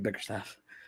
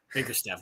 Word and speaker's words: Bickerstaff: And by the way, I think you keep saying his name wrong. His name's JB Bickerstaff. Biggerstaff, whatever.